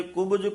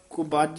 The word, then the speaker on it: कुब: soup नाम बिना जैसे कुब कुरूप कु बज नहीं कह देना कुब ही उच्चारण करना नाम बिना जैसे कुब